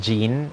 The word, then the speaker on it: Jean: Isabel villasano um her the way that you actually uh pronounce her name is actually the French version so hindisha Jin it's actually Jean Isabel and I kind of